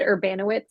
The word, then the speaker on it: Urbanowicz: So I pronounce it Urbanowitz, but however it Urbanowicz. comes out is great.